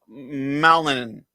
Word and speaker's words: Malinin: Ilya Malinin.